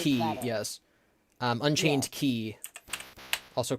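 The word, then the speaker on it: χ: Key, also called Cux, is What? Kingdom Hearts Unchained Key, but Key is spelled with the letter X. So the game is called KHUX, and so the fans call it Cux.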